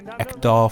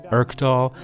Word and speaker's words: Ekdal: I'm going to be mispronouncing the Ekdal family name as Erkdal.